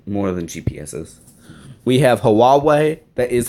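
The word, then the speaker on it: Huawei: they do actually more than GPSS we have hawawa that is how you pronounce it we have sony mobile communications but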